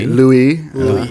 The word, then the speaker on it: Louis: This book, begins in New Orleans with, the main character, Louis, or Louis, I guess would be the French pronunciation.